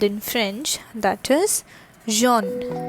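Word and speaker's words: jaune: what is yellow called in fringe that is john j a u n e all right what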